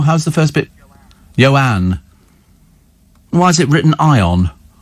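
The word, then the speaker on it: Ioan: get my drift you know uh ion is pronounced yoan oh right and and it's a surname grood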